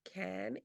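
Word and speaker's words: Cannes: going to go to can that's how you say it can again in France um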